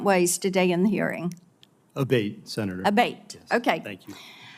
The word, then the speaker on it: Abbate: am I saying your name properly we've it pronounced three different ways today in the hearing aate Senator aate okay thank you um you had